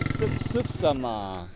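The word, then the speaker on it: suksma: Suksama.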